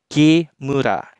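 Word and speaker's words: 木村: kanjimura yang artinya desa itu akan dibaca Q murah nah Kimura adalah salah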